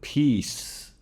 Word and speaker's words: peace: Take the word peace. So that C becomes an S sound because of that E.